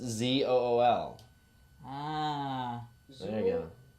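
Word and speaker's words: XUL: you're avoiding right oh x u l that doesn't even make sense oh i got it zul c pronounced z-o-o-l there you go name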